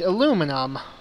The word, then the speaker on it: aluminum: a more appropriate term because the people who generally use the aluminium pronunciation are you know british commonwealth people particularly people from the uk and the reason i